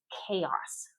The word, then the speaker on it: chaos: This is chaos. Chaos like the letter K. Chaos. Never chaos or chaos.